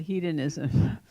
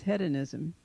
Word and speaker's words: hedonism: the word you know we Americans call it hedonism it was interesting to hear the British guy use head anism I mean you know